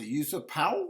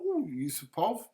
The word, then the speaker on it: Yusupov: Uh pronounced Artur Yusupov Yusupov.